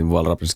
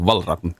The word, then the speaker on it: Valravn: You see, Ravn in Danish means raven, and listen how it's pronounced. Valravn. Yeah, I'm not doing that. And I've actually learned the Icelandic pronunciation. Ra. So I'm kind of using that. For sure, the correct pronunciation isn't this.